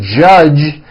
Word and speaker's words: judge: word judge judge now the mistake that many foreign speakers make is that they Uno the J sound at the end of a word so for example many foreign speakers would pronounce the word judge as judge turning that last sound into an unvoiced CH judge and that is not right the J sound in American English is always voiced J J Jud like